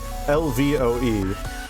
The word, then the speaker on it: Lvoe: He was like, I really love this, but he accidentally spelled it Lvoe.